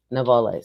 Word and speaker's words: novellas: Her love for storytelling brought her from writing novellas. How do you say that? Novellas. Like telenovela. Yeah, like it's a short novel, novellas.